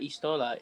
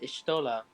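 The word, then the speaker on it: Y'shtola: stream elements wait so ishtola's name is not istola ishtola since you don't pronounce the first letter that's crazy yeah that's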